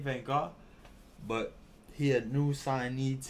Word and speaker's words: Vaughn: That's how you say his name, Van Gaal.